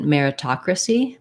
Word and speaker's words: meritocracy: don't release it but in meritocracy meritocracy i think that t is at the start of the ta syllable meritocracy so that's the stress syllable when that happens the t acts like it's at the beginning of a word which means we say a true tea regular tea where that